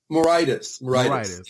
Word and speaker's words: Moraitis: Whatever, today we have Moraitis. I hope I pronounced his name right. Is it the right way to pronounce it? Oh, very close. Yeah. How do we pronounce it? Moraitis? Moraitis.